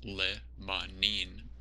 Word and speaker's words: limonene: terpene responsible for this limonene actually pronounced Lebanon is a monoterpene that